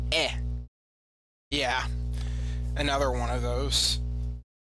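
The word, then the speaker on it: へ: So, we have or C two I now it's written as he but it's pronounced E.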